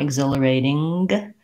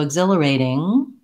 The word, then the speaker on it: exhilarating: And what we don't want is a K or a G sound after. I don't want exhilarating or exhilarating. And what to, in order to get that, just that NG sound, I have to turn off my voice before my tongue drops. So exhilarating, my tongue lifts, my voice stops, and then I have no little K or G sound after.